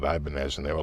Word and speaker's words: Ibanez: no no no no it's ibanez not ibanez not ebeneze i don't know sonny barnes which is really what it was supposed to be they're trying to sound spanish but we just called it ibanez and they were like